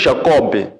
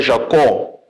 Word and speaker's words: Jacó: Jacó com com b não se pronuncia o b não se diz Jacob é Jacó há a forma própria